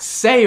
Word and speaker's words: say: Say rhymes with hey.